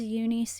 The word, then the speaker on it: UNIS: Also, I heard that Jelly when she's speaking English pronounces Unice Unice. And I just I don't know if that's what I should be saying or not. I'm sort of pronouncing it more of the Korean way.